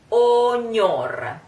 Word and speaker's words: ognor: Sospira ognor. Sospira, try. Sos, closed O. Sospira. P, like power, like pound, like sospira. Try sospira. Ognor. This sound, which is GN, and we pronounce it ñ.